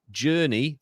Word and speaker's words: Jurnee: Jake, Jockey, Jojo, Journey, that's spelled Jurnee, and Jazz.